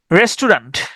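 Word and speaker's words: restaurant: সংকট দ্বিধা উভয় সংকট রেস্টুরেন্ট রেসটাউরান্ট রেসটাউরান্ট রেস্টুরেন্ট আমরা এটা উচ্চারণ করি আমরা হচ্ছে রেস্টুরেন্ট তবে এটার স্পেলিং দিয়ে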